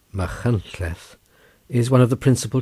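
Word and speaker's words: Machynlleth: george borrow chapter 79 machines pronounced mahantleth is one of the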